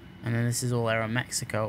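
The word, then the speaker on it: Aeroméxico: And then this is all Aeromexico or Aeromexico. That's how they pronounce it.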